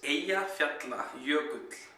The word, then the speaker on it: Eyjafjallajökull: So they can at least try to pronounce it right. So here it goes. It's Eyjafjallajökull.